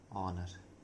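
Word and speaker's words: honour: ऑनर में H silent होता है और इसे पढ़ा जाता है ऑनर।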